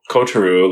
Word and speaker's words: Kotaro: saying it right like I was calling it kotaru lives alone and then I'm like wait they're they're saying kotaru yeah yeah exactly I